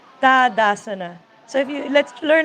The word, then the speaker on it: Tadasana: number one da-da-da-da-da sana it's not Tadasana dad asana so if you let's learn how to say it the way let's honor the language yeah okay dad asana Mountain Pose good word